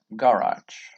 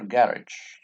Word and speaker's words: garage: up bathroom bedroom downstairs garage or garage two pronunciations are possible Garmin lifts yes lifts